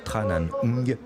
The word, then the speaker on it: Tran Anh: suis moqué de lui persuadé que l'on disait Tran à nioumi mais il avait raison c'est bien tranan plus facile en revanche